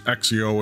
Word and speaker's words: Accio: That's how that's pronounced. Accio.